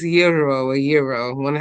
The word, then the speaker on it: gyro: Some of y'all know pronounce it gyro, but that's not gyro gyro. That's not really how it's supposed to be pronounced. That's the pronunciation. It's euro or euro.